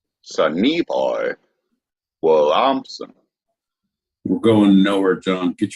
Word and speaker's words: Sonny Boy Williamson: Sonny Boy Williamson. Your emphasis was on the wrong syllable. Sonny Boy Williamson.